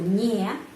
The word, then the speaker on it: не: Kita sudah tahu tidak itu nie, ny, 2 huruf. Tapi pengucapannya biasanya ni. Kenapa? Karena huruf Y itu tidak mendapat penekanan dalam kata tidak, dalam kata nie. Jadi pengucapannya ni.